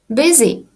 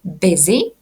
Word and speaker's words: busy: busy. Простеньке слово, але чомусь студенти навіть на рівні preintermediate можуть казати на нього bu. Це абсолютно неправильно. Вимовляємо ми busy означає зайнятий.